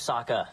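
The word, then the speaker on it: Sokka: you lost my name's Saka rhymes with with AA and waka waka it's a Muppets reference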